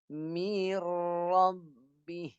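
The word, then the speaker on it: مِن رَّبِّي: Ra dengan lam ni jangan dengung. Cara baca macam ni. Nak elak dengung macam ni. Baca dia macam ni. Mir. Masuk pada ra terus. Mir rabbi.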